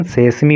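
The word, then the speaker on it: sesame: हो गई, और सेसमी, इसका प्रोनाउंसिएशन सेसमी होता है, और सेसमी का अर्थ होता है तिल, तिल हो गया, सोयाबीन हो गई, एंड सनफ्लावर और सूरजमुखी हो गया।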